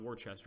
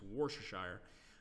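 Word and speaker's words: Worcestershire: the city of washed washed stock wore Shire I think that's how you pronounce it worse - Eyre not Worchester it's war Shire managed to take this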